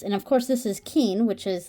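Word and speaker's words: 金: Roman alphabet here that uh how this is pronounced and of course this is Keen which is like gold and and it does say Keen here so Keen kin Ru I have the hardest time saying the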